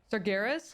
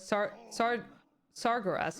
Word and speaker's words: Sargeras: I also had that with uh Sargeras. I thought it was saras or something.